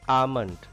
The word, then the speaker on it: almond: L is silent here. Almond.